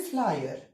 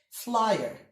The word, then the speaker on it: flyer: In the word flyer, both the I and the E are pronounced. Say the word with me, guys. Flyer.